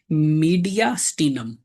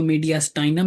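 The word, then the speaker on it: mediastinum: That is called मीडियास्टिनम। मीडिया स्टिनम। आप इसको मीडियास्टाइनम भी पढ़ सकते हैं। जैसे मर्जी आप प्रोनाउंस कर लें।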